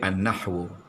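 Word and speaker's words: النحو: Nahu alif lam nun ha wau. Bunyi dia annahwu.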